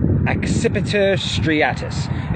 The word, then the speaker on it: Accipiter striatus: the sharp shinned hawk exhibitor striatus occipita striatus is the latin pronunciation for the sharp shin